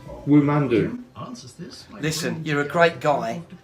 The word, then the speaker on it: Womando: just once for me no it's not so what is my name woo man do listen you're a great guy but bloody hell